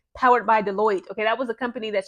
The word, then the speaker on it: Deloitte: So she actually joined an organization, or a company rather, called, I believe it's pronounced Deloitte. I'll post it up here, Deloitte.